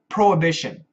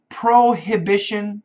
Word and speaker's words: prohibition: But if we say it fast, prohibition. We cancel the H. Prohibition is correct.